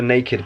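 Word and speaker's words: Nakd: I also did have a naked bar, you know, naked bar, like it's spelled N-A-K-D.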